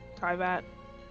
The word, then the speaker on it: Teyvat: Some people say Teyvat. People say Teyvat. I say Teyvat.